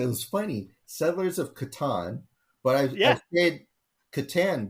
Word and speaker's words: Catan: I say Catan.